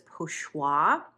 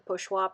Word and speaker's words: pochoir: This is, I'm going to pronounce this terribly because I do not speak French, but I believe it's pochoir, which is something that Picasso